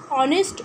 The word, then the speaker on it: honest: এইচ কিন্তু একটি consonant, কিন্তু এখানে অনেস্ট শব্দটি এইচ দিয়ে আরম্ভ হলেও এইচের উচ্চারণ এখানে অয়ের মতো বা ওয়ের মতো শোনাচ্ছে বলে অনেস্টের আগে আমরা বসাবো অ্যান, তাহলে এখানে হবে অ্যান অনেস্ট ওম্যান।